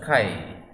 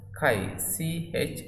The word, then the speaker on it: chi: So it is just like X that we pronounce as chi. So this we will spell as chi, chi.